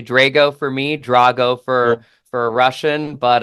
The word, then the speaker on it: Drago: the time uh I'm the Italian version so the pronunciation is actually Drago for me Drago for for Russian